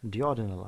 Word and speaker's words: duodenal: Duodenal ulcer or duodenal ulcer, you may pronounce it either ways.